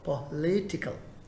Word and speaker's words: political: The stress is on the second syllable. Which is the second one? Po. First one. Leave it. Le. This is where. So political.